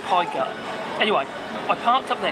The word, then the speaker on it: Pegu: There's a little place called Pegu Market, and it's pronounced Pie Gut.